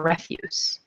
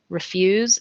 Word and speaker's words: refuse: had to refuse more refuse refuse and refuse are spelled exactly the same way but one is to refuse to say no and refuse is waste okay so they said